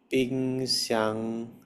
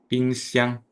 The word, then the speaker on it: 冰箱: 冰箱 Yes. Good. 冰箱 Pingxiang. ini with the second syllable stressed and lasting longer.